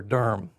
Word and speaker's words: Durham: So if you ever get to Durham, or Durham, it's one syllable, Durham, you need to see Duke Chapel, inside of Duke Chapel.